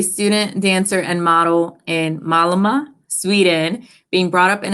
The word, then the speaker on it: Malmö: Well, the easiest thing was to just say Malmö. Malmö.